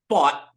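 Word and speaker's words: Pfaadt: don't want to mess it up is it fought fought okay yes Brandon plot real quick yeah he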